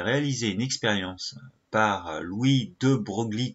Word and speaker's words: de Broglie: une expérience par louis de broglie qui se prononce louis de breuil me demandez pas pourquoi ça s'écrit bobo glee mais se prononce de breuil il propose en 1923